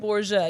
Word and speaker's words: Borga: It hits hard, but the pronunciation of your last name is actually Borgia, right? Borgia, yeah. Way back, it's Sicily, Italian.